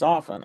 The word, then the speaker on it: often: It's not a hard T. It's not often. It's often. Often and listen. Just remember it that way.